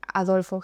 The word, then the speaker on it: Adolf: debido a adolf Hitler Adolfo Hitler Lo siento en alemán sería adolf Hitler si alguien Quisiera escuchar es También bien pronunciado digamos al estilo alemán pero bueno é no